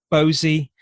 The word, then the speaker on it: Bose: Ajoy Bose. I don't know if that's how you pronounce it. Bosey, yeah. Bosey, is it?